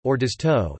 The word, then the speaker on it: Orzotto: Orzotto, Italian pronunciation, Orzotto, is an Italian dish similar to risotto, but made with pearl barley instead of rice.